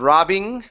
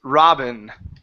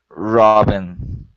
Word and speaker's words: Robin: let's go to Robin give me a short I here instead of robbing okay it's Robin Robin mm-hmm okay next one